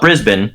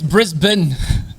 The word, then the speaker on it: Brisbane: name's weird because you guys always call it brisbane yeah it's brisbane yeah brisbane but like the way it's spelled and if you're like especially if you're